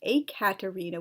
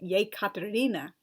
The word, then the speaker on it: Yekaterina: When it makes sense, I render the E as Y, so as to avoid pronunciational confusion. For example, why use the spelling Ekaterina when the name is really pronounced Yekaterina? Or again, why have a